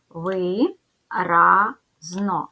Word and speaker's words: виразно: Отже буде три склади ділимо на склади ви разно ставимо наголос виразно наголос падає на другий склад позначаємо приголосні звуки в